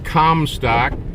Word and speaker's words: Comstock: So anyways, we're about to enter Commtock. Pronounced Commtock.